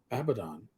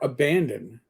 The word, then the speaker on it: Abaddon: Now, I would like to compare it to the Cult of Abaddon, or Abandon, if you want to mispronounce it like some other YouTuber.